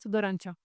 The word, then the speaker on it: Tudorancea: How do I pronounce that? Dorancho.